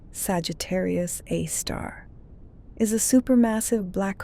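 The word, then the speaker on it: Sagittarius A*: Sagittarius A, pronounced Sagittarius A. Star, is a super massive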